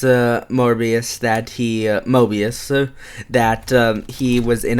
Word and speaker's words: Mobius: he's he it's Moby's Mobius uh m-o-b-i-u-s M Mobius m-o-b-i-u-s oh it's not pronounced like morbius he's not related I'm